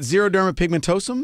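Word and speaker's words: xeroderma pigmentosum: little bit about the XP Society am I pronouncing it right zerod Derma pigmentosum yes yes all right and that is uh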